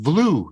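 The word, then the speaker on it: Vlue: and then we have blue that's spelled with a v v-l-u-e a new way to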